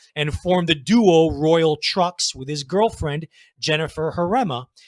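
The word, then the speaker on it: Trux: garage punk san francisco's royal trucks spelled with tr ux and new york city's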